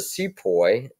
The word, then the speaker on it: Sepoy: that would be so here's a Sepoy rhymes with boy and here you see